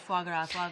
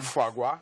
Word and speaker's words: foie gras: I hear a lot about foie gras. Like, there is a big caterers, the chefs, they love it. How do you pronounce that again? Foie gras.